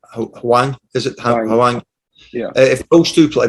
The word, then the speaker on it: Hwang: Hwang, is it Hwang?